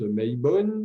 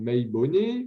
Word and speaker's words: Mabon: Donc, Mabon se prononce Maibon ou Maibone ou Maboun ou encore Maubaun. Bon, voilà, vous excuserez la prononciation, mais voilà, parce que souvent, ça vient du gaélique, etc., d'anciennes prononciations celtes.